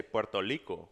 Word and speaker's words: Puerto Rico: Rico or Puerto Rico whereas the Puerto Ricans say Puerto Rico Puerto Rico so so Costa Rica they pronounce Costa Rica almost I know that the are they pronounce it different and the Puerto Ricans pronounce it like liko like and even I'm like